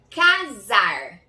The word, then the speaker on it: casar: Casar. 2 sílabas, viram? Ca, a primeira, e zar, a segunda. Zar tem som de Z, mas na verdade a gente escreve com S.